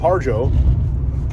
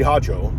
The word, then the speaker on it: Harjo: our ancestors for Hope with harjo uh which really should be pronounced something more like uh apathy hajo you know if I'm I'm kind of still not doing it totally correct but it's more like that um or uh you